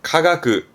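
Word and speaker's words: 化学: 발음은 카가그, 카가그.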